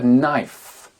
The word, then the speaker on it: knife: K et le n Le K et le N ne font pas bon ménage en anglais tout simplement parce que euh quand on associe les deux lettres la prononciation du cas disparaît prenez par exemple le